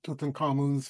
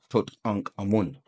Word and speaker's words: Tutankhamun: You're saying Tutankhamun, like, but that's again a triad being, Tut, Ankh, and Amun. See? Tut, Ankh, Amun.